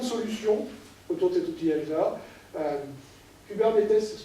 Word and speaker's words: Kubernetes: Kubernetes, ça se prononce comme ça.